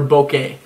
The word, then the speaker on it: bokeh: like what's that blur it's called bokeh be Oh keh bokeh or bouquet however you want to say it like poke a anyways I don't I'm